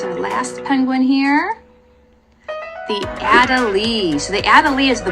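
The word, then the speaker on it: Adelie: the emperor and the adeli Adel I keep wanting to call it adeli but it's adal is how you pronounce it and then I want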